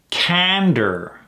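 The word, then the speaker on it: candor: acknowledgement of my peers cander so there's only two syllables here Ander emphasis on the first one cander straightforward honesty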